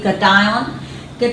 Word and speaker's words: cation: ion goes towards cathode it's not cut iron I'm pronouncing it like that so that it's easier to recall it's actually cation cation goes towards the cathode